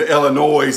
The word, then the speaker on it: Illinois: and then you got the e and s which are silent you know like in des moines and illinois and arkansas yeah uh-huh knack-a-dish spelled